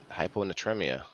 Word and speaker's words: hyponatremia: called uh hypo or hyponatremia hyponatremia anyone there you go you said it right um where you retain